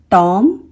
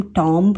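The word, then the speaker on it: tomb: टॉम, टॉम, इसमें हम बी को साइलेंट रखते हैं और बी का साउंड लेकर नहीं आते, इसे हम टॉम्ब नहीं बोलते, ये होता है टॉम।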